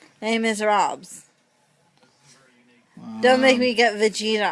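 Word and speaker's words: Les Misérables: It's spelled miserable because in English you pronounce it miserable, but it is a French musical. So you call it by its French name. Les Miserables.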